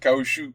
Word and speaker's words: caoutchouc: So you want to pronounce it caoutchouc? No. The C is silent.